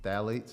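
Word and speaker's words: phthalates: label and you see phalates it starts with a P the p is silent but the phalates when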